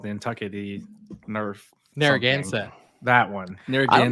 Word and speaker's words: Narragansett: that beer is called then take the Nerf Narragansett that one there again how you pronounce that that's fantastic yeah he pronounced it